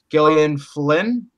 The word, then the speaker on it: Gillian Flynn: We also have the writer from Gone Girl, Gillian Flynn, if that's how you say it.